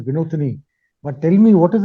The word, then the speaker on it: Vinothini: Vinothini, you said your name is to be pronounced as Vinothini.